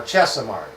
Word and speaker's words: Chesimard: I believe I'm pronouncing that correct now. Chesimard.